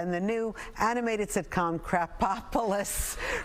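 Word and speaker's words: Krapopolis: Crapopolis.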